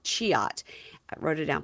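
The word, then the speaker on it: Cihat: His friend's name is Cihuat, c h i h a t, but pronounced Cihuat.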